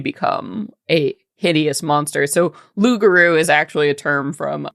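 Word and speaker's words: loup-garou: You used to pronounce this. Oh, Lugaroo.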